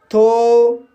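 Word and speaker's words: though: इसी तरह से कुछ शब्दों में OUGH का उच्चारण O होता है, जैसे थो, दो, थरो, ऑल्थो। तो गाइस इन सभी शब्दों में OUGH आया है और GH साइलेंट है और OU का उच्चारण O हुआ है।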